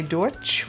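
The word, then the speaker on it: Deutsch: the um proprietor was trying to say DCH which is how you say German in German and it got transposed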